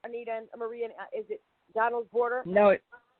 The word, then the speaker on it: Donald's Border: Is it Donald's border?